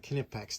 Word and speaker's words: Kipex: Uh Kipex. The K is pronounced here according to their website.